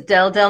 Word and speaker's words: Deldelp: so my name is del del it's spelled d-e-l-d-e-l-p the p is silent um my mother's name